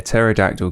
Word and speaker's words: pterodactyl: can't you hear a pterodactyl go to the toilet you're gonna you have to tell me mate i think it is because the p is silent welcome to get lost